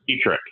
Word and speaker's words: Pietrek: Pietrek. I've had it butchered all over the place, so Pietrek.